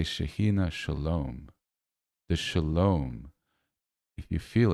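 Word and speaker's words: שלום: Shalom. Shalom. At the end, right? The m really brings it in.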